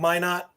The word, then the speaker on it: Minot: i'm going to say i always call it my not i know that's wrong no no correct oh that's correct i